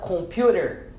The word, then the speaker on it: computer: Temos a palavra computer. Computer. Esse T de computer, ele tem um som muito similar ou bem parecido ou até pronunciado muitas vezes como um D de dado.